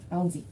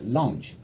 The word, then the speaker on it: lounge: Of a step lounge. Step lounge. Step lounge. 지금 L 발음을 계속 R 발음처럼요. L은 혀끝이 위치 안쪽 위에 잇몸하고 사이에 붙으면서 딱 때려줘요.